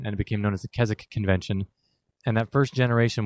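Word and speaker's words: Keswick: it all came together Kazakh it's spelled ke s WI CK the W is silent it's a place in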